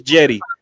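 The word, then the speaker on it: Cedi: His C is silent. His name is Jetty.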